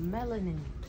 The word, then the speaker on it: melanin: Melanin. Melanin. It's like watermelon.